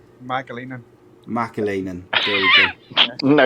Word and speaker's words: McAleenan: Did I pronounce your name right? Mcaleenan.